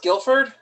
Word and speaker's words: Guilford: That's pronounced Guilford.